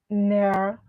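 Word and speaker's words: Nair: you a n a n t h near is spelled n a i r so Anan near memorial fund so but they are saying that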